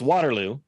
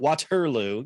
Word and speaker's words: Waterloo: Mine is always Waterloo. I'm like, it's Waterloo, not Waterloo.